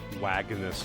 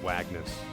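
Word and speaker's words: Wagnas: we just met but wagness I like that it's actually pronounced wagness as well it's not like they're trying to go for some kind of German pronunciation or something it's actually just wagness get a little of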